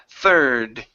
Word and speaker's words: third: Push your tongue down. Try not to roll your R saying th.